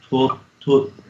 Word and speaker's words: tut: Und die Welt vergeht mit ihr Lust, wer aber den Willen Gottes tut.